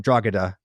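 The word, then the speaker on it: Drogheda: stormed a castle called draga um draga it's pronounced um and yes they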